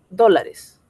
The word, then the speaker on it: dólares: A ver, el depósito de 100, ya, dólares. Dólares. ¿Por qué lleva tilde? Porque es una palabra esdrújula.